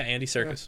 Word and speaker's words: Andy Serkis: Yeah, Andy Serkis.